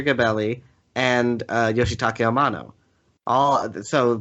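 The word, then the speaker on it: Gebelli: so i can say that that is not pronounced kevel that it is nasir gabelli uh kabelli is not an iranian name i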